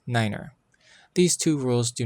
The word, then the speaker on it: niner: pronounced as tree and since n is no in German nine is pronounced as Niner these two rules do